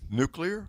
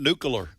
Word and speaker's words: nuclear: New I'm going to say n u k e. Yeah. Like where you eat where? I got you. Nukes. Nuke.